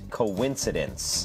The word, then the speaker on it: coincidence: spelled like coin like but it's actually uh pronounced coincidence Co coincidence it's almost like Co and then